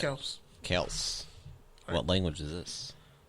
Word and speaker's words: Kelce: Because Kelce, when you see it spelled like that, you assume it's Kelce. Nope, it's Kels.